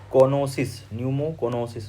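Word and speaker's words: pneumoconiosis: वो काउज करता है ये न्यूमोकोनोसिस में पी साइलेंट है।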